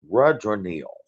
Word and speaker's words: Rudranil: I just Googled how to pronounce his name. Actually, my wife did. Thank you, wife. RUDRANIL.